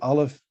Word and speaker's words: aleph: word Bereshit, when beginning, it's the aleph it's a glottal stop.